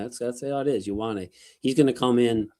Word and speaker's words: Ioane: Like you say about the what think about the letter Y. Yo. It's like the the IO is like a yo, like Ioane.